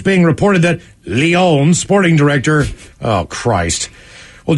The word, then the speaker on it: Lyon: Lyon? L-Y-O-N?